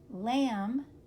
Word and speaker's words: lamb: the top these are the MB words some of them which say mmm here we go dum plum Lim lamb num and of course